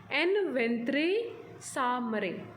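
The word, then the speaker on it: en ventre sa mère: इसका प्रोनाउंसिएशन आप प्लीज़ ध्यान से सुनिए। एन वेंत्रे सामरे, एक लैटिन मैक्सिम है जो कि आपने ट्रांसफ़र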